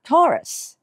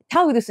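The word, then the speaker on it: Taurus: それから次はトロスですね au のスペリングを大きなあですのど縦に開けてですねタウルスにならないよう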